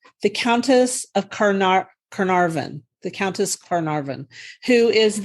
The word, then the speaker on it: Carnarvon: The Countess of Carnarvon.